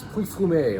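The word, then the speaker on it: Pouilly-Fumé: This thing that's unfortunately spelled Pouilly, Fume, it's Puy Fume.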